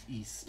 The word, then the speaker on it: Ys: on the tomographic see that's how they pronounce it in the introductory cutscene so it's no it's